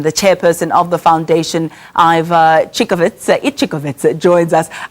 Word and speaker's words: Ichikowitz: The chairperson of the foundation, Ichikowitz, joins us. In my head, I'm thinking about how you taught me how to say it. Think of itch.